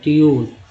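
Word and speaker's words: tune: ट्यून में क्या पढ़ रहे हैं यू को, तो ई यू पढ़ रहे हैं, ट्यून।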